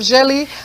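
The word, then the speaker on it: djeli: You know, the jelly we used to go around in the village telling people the stories. Oh, is it like the drums thing that people, Yes. So that's why it's spelled D-J-E-L-I.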